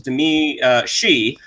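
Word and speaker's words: Domee Shi: So this is actually from, I believe the pronunciation is Demi Shi, who directed the short from Pixar, Bow, from 2018, I think, which was a delightful little short.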